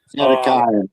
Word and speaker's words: Zedekiah: I I believe it was Zed Zedekiah or ZedC Zedekia. I'm not sure how you'd pronounce it. Zedekiah is how you pronounce.